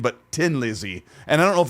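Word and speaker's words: Thin Lizzy: told most of my life that the official pronunciation of this band from Ireland is not thin but Tin Lizzy and I don't know if that's like to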